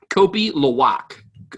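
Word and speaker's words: kopi luwak: me let me look it up it is kopi lawak that might be pronounced around k-o-p-i l-u-w-a-k that might be the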